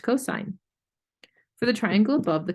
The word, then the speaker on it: cosine: of the hypotenuse is called the cosine ratio, pronounced cosine.